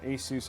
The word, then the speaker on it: ASUS: motherboard it's an asus rog i have been mispronouncing it yeah asus rog and i think that's it and the